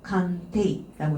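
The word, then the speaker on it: 鑑定: 칸테이라고 읽어주시면 돼요.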